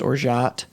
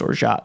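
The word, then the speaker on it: orgeat: i looked it up i understand that it's pronounced or shot um if anyone's like actually mad i'm not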